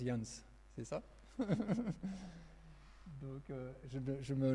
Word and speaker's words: Ianja: Alors ça s'écrit, tu l'as pas affiché, mais ça s'écrit Janja, mais ça se prononce Jans, c'est ça?